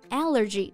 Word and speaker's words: allergy: 对，我感觉是不是国外人的体质原因啊，他们很多人都有过敏特别严重的食物，所以餐厅啊都会特别注意要问一句。那过敏啊，我们就可以用 allergy 这个单词来形容。注意发音的时候，重音在第一个音节，但是当它变成形容词 allergic, 重音就变到第二个音节了。